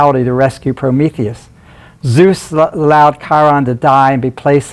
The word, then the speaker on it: Chiron: The Chiron, hard C, K sound, right?